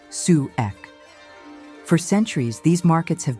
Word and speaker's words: souk: Every week, almost every Egyptian village or small town comes alive with its local farmer market known as a souk, pronounced sue ek.